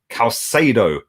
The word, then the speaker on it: Caicedo: They've signed, or they're about to sign, Moises Caicedo.